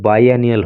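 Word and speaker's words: biennial: द बाईएनियल, इसका जो pronunciation होता है वो बाईएनियल होता है, द बाईएनियल इलेक्शंस, और इसका हिंदी अर्थ होता है द्विवर्षीय।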